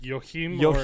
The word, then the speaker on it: Joachim: up the pronunciation and every time he says his name he's like yo hoarsely no but no i'm pretty sure it is like yohim so this is basically